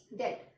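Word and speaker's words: debt: Next लिया मैंने word डेट. यहाँ पर भी बी जो है साइलेंट है.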